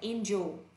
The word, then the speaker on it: angel: Nghe cô đọc nha, không đọc là angel đúng không ạ? Đọc là angel. N âm A nha.